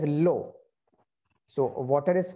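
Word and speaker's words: l'eau: not come together, so L apostrophe and then EAU, and it is pronounced as low.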